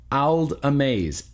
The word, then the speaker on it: Ald Amaze: have to use your Google Foo, but it is spelled Ald Amaze, Aldamaze.